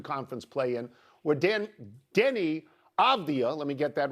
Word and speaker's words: Avdija: I'm not going to get into Avdija even though I'm finally pronouncing it correctly.